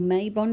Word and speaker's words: Mabon: how i celebrated um or or maybon depending on how you'd like to pronounce it and i chose to